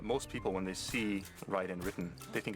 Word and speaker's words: Raiden: listen to an example I don't think anybody would think of pronouncing r yu as they would always say rayu because that's the way it would be pronounced you know one that's a big problem it's actually writen uhhuh cuz you know in middle gear from the very beginning there's voice acting so they know it's Ryden.